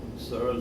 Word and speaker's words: Searle: Searle se escribe S-E-A-R-L-E.